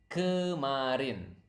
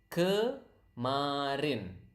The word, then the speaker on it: kemarin: It is kemarin. Okay, again, repeat after me so that you can pronounce the word correctly. Kemarin.